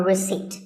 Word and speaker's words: receipt: don't pronounce as in word number 24 receipt the p is silent when you purchase something or you pay a bill you get a receipt now if you don't